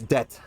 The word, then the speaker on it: debt: b in it it's debt with no uh the b is silent their temperature is a